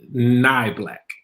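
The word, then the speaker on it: Neubacher: have to correct it the last name is pronounced nigh black it's not black however if i go back further far enough it is neat black because of its german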